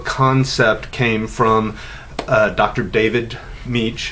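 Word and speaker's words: Mech: David Meech it's pronounced it's spelled mich he was doing research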